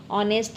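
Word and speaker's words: honest: ऑनेस्ट है। इसमें H silent है और चौथे में बी साइलेंट है।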